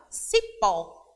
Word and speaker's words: cipó: vai acontecer na palavra Cipó Observe sim só ao pronunciarmos é mais como ter mais foco então a sílaba tônica é o pó por quê Porque está